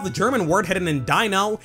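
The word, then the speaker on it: Deino: If you showed me this fellow's name and I never played Pokemon before, I would probably pronounce it Dino. But the official pronunciation is Dino, because the middle of its name is Ein, the German word for the number one.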